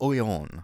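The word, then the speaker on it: Noyon: le haber oleon oriens it's actually it's oyon i remember that from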